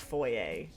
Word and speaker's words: foyer: So it's pronounced foyer. That's like actually how you'd pronounce it technically if you were pronouncing it the French proper way.